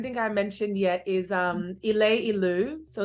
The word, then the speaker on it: Ileilu: So, so the group that you're referring to, which I don't think I mentioned yet, is Ileilu. So it's spelled ILEILU.